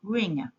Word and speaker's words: wring: W is a silent letter in ring.